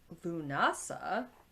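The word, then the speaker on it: Lughnasadh: And then you have Lamas or Lunasa is apparently how it's pronounced, although it's one of those ones it's spelled like Lugnasha.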